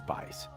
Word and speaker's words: Buice: Looks like juice with a B in front, but the U is silent, so it's Bice.